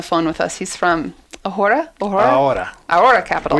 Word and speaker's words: Ahora: He's from Ahora Capital. Which I knew I shouldn't say the H.